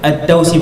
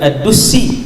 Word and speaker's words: ad-Dausi: Hak tadi yang saya lupa saat ni, Tufail bin Amr ad-Dausi, bukan ad-Dusi.